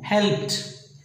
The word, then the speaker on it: helped: And help, helped, no, helped, T sound.